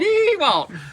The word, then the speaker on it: DeWalt: DeWalt. DeWalt.